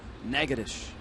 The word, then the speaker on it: Natchitoches: They're sister cities, although the pronunciation in Louisiana is Natchitoches. Different state, different pronunciation.